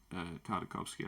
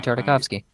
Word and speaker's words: Tartakovsky: I do feel like, I'm not going to lie to you, I do think that the Tartakovsky, I can never pronounce his name. You said it fine. Gendy Tartakovsky.